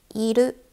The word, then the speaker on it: いる: いる、いる、いる。So the R is pronounced as L, so remember this.いる is to exist for living things.